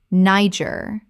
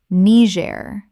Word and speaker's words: Niger: Chile Chile Word 107 Niger Common mispronunciation, Niger, like Nigeria without the IA. Correct pronunciation, Nee-jair. The country in West Africa takes a French-influenced pronunciation.